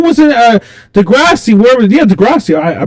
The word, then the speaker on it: Degrassi: Yeah, Degrassi. I pronounce it.